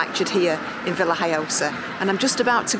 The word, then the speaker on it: Villajoyosa: So if you find yourself in Villajoyosa, as I've now been taught is how it's said, then come and check this out, because it's definitely worth it.